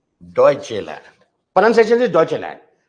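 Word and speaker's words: Deutschland: यू टी एस एस सी एच ई एल ए एन डी डचे land pronunciation is डचे land ये ड्यूडचे land है मत कर देना इसको ठीक है डचे ये डी एंड ठीक है डचेलैंड वी आर नॉट the only country which has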